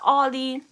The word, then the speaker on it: Aldi: anyway i shopped at a store that rhymes with waldi and this is where